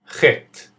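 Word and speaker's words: ח: Chet, Chet, Chet. The best way for me to try and help you understand how to pronounce this letter is try thinking of the famous music conductor Johann Sebastian Bach.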